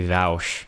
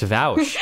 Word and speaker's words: Vaush: Technically, it's supposed to be Vaush, is how you say it, okay? I think you're lying right now. I'm not lying. It's Vaush.